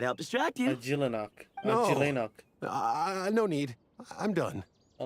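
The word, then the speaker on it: Ajilenakh: Oh shit, so that's how you pronounce it. It's Ajilenok.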